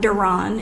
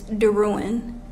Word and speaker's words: Duran: My last name is not Duran, it's Duran.